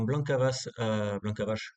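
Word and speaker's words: Blanka Vas: Mais apparemment, Blanca Vache, parce qu'il faut prononcer comme ça, a fait la descente et a pu revenir.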